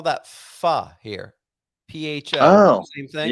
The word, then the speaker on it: pho: Yeah, they call it pho. PHO, but it's pronounced pho.